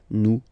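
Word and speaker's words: nous: You don't pronounce the the final s new.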